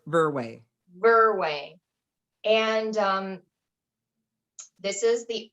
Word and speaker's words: Verwey: Verwey? Verwey.